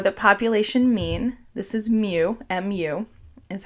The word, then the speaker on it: mu: hope not for the population mean this is mu mu is how it's spelt and for the standard deviation this is